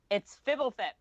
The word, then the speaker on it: Fibblethip: It's Fibblethip. Fibble. That's how you say it. Fibble, like Fibble, Thip.